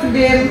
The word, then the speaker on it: oedema: Kalau dia nanti mengembang, berarti biasa kita sebut dengan udem atau teman-teman biasa nulisnya oedema gitu ya. Udem, bacanya kan udem kan? Udem.